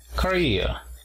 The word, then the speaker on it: Korea: Apóstrofo en la segunda sílaba. Korea.